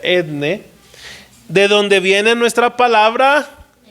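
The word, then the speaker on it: ἔθνη: viene del griego etne esa palabra roja que está ahí se pronuncia etne de donde viene nuestra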